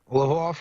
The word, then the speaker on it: Lviv: Lvov or Lviv? Lviv?